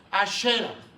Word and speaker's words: Asera: Bueno, Asera o también se puede pronunciar Ashera, era una diosa de allá de Palestina.